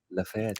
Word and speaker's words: Galeries Lafayette: I pronounced that Mm-hmm. right? Lafayette.